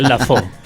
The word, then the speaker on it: Lafleur: Tal vez se pronuncia Lafo. Ya, correcto.